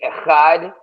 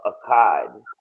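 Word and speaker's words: אחד: The next word is Akkad. That's what the Yiddish fucks, they say Echad. They say, oh, that's the number one. Or alone, together by itself, Akkad. So that's the correct way to say is Akkad. Because, you know, there's no E's. They just making shit up.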